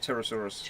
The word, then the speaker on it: Pterosaurus: probably a silent P, so it's probably just Pterosaurus. Pterosaurus.